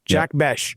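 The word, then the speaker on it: Jack Bech: Do you pronounce the H on this? Is is it Jack Beck? Oh, Jack Bes. Bes. Jack Besh.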